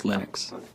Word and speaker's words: Linux: lonus and I really don't care how people pronounce my name but Linux is always Linux he developed a kernel and got it working